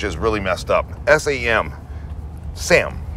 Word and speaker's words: Samhain: Sam, right? But they're pronouncing it as Sam.